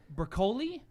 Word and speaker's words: Broccoli: So James Bond, to your note from earlier, the James Bond producer, Barbara, and I don't know how to pronounce it, Broccoli.